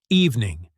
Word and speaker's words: evening: Notice how evening has two syllables, evening.